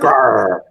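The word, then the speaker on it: Gerar: In any case, in this section, Yitzchak goes down to the original Philistines, to Grar, which is basically Gaza, basically the Gaza area, and It's pronounced really, Gar.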